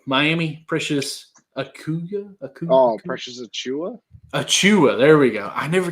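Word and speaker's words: Achiuwa: Achua.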